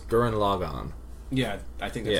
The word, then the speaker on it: Gurren Lagann: Based on how they say it in the show, it's Gurren Lagann.